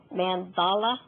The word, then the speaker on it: mandala: the mandala oh and I found out this pronounced mandala mandala I was expecting a